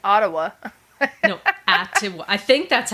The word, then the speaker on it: Atiwa: No, Atiwa. I think that's how you say it. It's spelt Atiwa. Oh, okay. Atiwa.